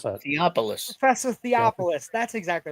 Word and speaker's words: Theopolis: Pronounce that. Theopolis.